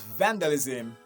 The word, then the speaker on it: vandalism: Another example there is vandalism, okay? It's still stressed at the beginning. Vandalism, okay? So when you listen to me, you're going to realize that I'm stressing van, that's the first syllable.